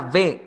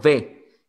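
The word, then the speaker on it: וְ: pegado con la palabra ve este palito que está acá se pronuncia en hebreo ve y significa simplemente en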